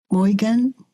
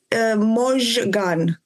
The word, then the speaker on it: Mojgan: Morgan? Hello? Hi. Yes, hello. It's actually, you say it, Mojgan. This is how you say it.